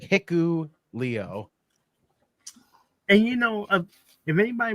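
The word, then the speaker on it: Hikuleo: good job yeah it's it's h i k u l EO yeah that's how you spell it's like hiu Leo and you know if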